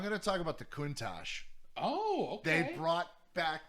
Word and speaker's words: Countach: It's Countach, that's how you say it.